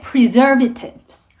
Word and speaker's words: preservatives: artificial, 그리고 이 단어에서 버벅거리신 분들이 많으셨는데 preservatives, 이 부분에 강세가 들어갑니다. preservatives라는 단어가 나왔고요.